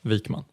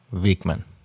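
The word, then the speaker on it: Wikman: in the future L vikman it's not a nice name to throw at Americans because it's l vikman pretty good you're getting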